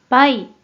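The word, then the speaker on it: 賠: 일본어 발음 확인해 볼게요 먼저 뜻으로는 발음이 없고 음으로만 빠이 빠이라고 읽어줘요 그럼 먼저이 한자의 음도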